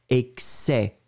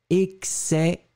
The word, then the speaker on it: excès: On ne prononce pas le S final et vous prononcez vraiment excès. Excès, excès.